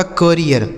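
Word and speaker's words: career: सी ए R double E आर, तो सी ए से हो गया दोस्तों का, आर से हो गया र, इस डबल ई का उच्चारण ईया, उसके बाद आर से र, यह लिखा गया आपका करियर।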